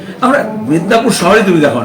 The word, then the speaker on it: মেদিনীপুর: আমরা মেদিনীপুর শহরে তুমি দেখো না কেউ, আমরা মেদিনীপুর বলি যেটা বাংলা নামে, স্টেশনে গেলে ওটা হয়ে যায় মিদনাপুর। আবার কেউ কেউ ইংলিশে মেদিনীপুর হিসাবে লেখে, PORE লেখে, কেউ PUR লেখে।